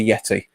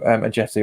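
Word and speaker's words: Ajeti: and Silvera and a Yeti so a jti or Yeti depending on your pronunciations Derek alate will we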